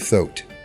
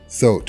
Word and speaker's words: Thoth: What is beyond question is that the figure of Thoth, the real Thoth or Thoth or Toth, however you want to pronounce it, the Egyptian deity is